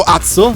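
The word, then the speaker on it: Adso: 1327 un giovane Monaco Azzo azo Come scritto adzo ma si legge azzo azzo azzo azzo info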